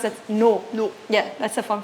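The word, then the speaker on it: 노: great that was difficult to read that was difficult yeah because it is written roh but actually it's pronounced that no no yeah that's a fun fact Koreans in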